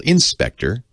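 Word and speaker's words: InSpectre: And it's called Inspector. And it's spelled I-N-S-P-E-C-T-R-E, not E-R-R-E.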